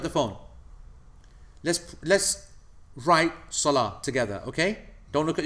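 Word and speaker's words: صلاة: lamb third letter Alif fourth letter teller water yeah not pronounced yeah knee when you when you stop on it Salah but if you were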